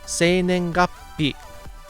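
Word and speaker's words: 生年月日: And actually, we should tell you the way that they would say birth date in Japanese is pronounced se nen gappi. Here's a new vocabulary word for you. Se nen gappi.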